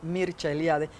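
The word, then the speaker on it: Mircea Eliade: de las religiones mercealiade que se pronuncia en rumano porque es rumano mircha eliade que tiene muchos libros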